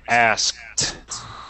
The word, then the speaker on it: asked: It's pronounced differently. We say asked. Almost with like a T sound.